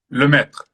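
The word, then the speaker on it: Lemaître: con el francés porque no sé si es Lemaitre, no sé cómo es la pronunciación exacta. Lemaitre, Lemaitre, ok.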